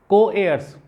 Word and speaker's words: co-heirs: Co-heirs, इसको hair मत पढ़ लीजिएगा, इसका प्रोनाउंसिएशन है एयर, उसमें एस लगा दीजिए, एयर्स, पापास।